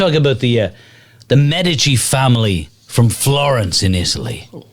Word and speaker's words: Medici: it that way yeah i always thought it was mandinsi oh medici yeah yeah yeah i've i've heard it but the italians they go with mad did she meditate no and believe